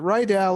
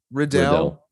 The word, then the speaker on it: Riddell: city kickboxer Brad Rydell is it Rydell or is it riddle do you know riddle Riddell there we go and then hanato moycano